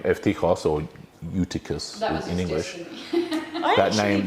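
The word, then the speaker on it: Εὔτυχος: It's a U in English, but pronounced ev in Koine Greek and Classical Greek, meaning good. Tichos, fortune. So Evtichos literally means good fortune or lucky.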